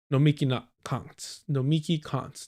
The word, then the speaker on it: Nomiki Konst: Because both Sam Cedar and Emma Vigeland, as well as Matt Lech, initially endorsed Nomiki Konst.